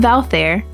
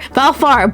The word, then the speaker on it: Valfar: I agree with Valfair. Valfair? Valfar! Bruh, I've been saying it wrong. It's Valfar. It's far, not fair, isn't it?